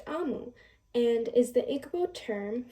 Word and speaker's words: Omu: Quick note to the readers and listeners, OMU is pronounced Amu and is the Igbo term for queen.